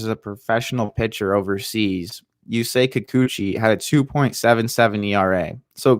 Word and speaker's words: Yusei Kikuchi: So Yusei Kikuchi is 29 years old. I think I did it. I didn't even need the pronunciation. Yusei Kikuchi. Yeah, I think. Yusei Kikuchi.